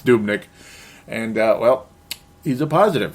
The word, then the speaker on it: Dubnyk: Devin Dubnyk, I hope I'm saying it right, Dubnyk. Dubnyk, whatever. No, it's Dubnyk.